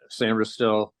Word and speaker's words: Sainristil: Yeah, I definitely liked their trade with Philadelphia, where they got, I think, 2 really good players potentially, in Mike Sainristil. Mm-hmm. I think I'm pronouncing that correct.